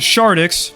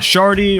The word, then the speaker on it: Shardix: If you're unaware, my name is Shardix, not Shardy or ShardyX. The X is not silent.